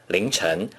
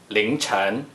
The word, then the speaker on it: 凌晨: 凌晨 can be used to indicate the time period before dawn. Please pronounce it after me. 凌晨凌晨凌晨 For telling the time, 3:07 a.m.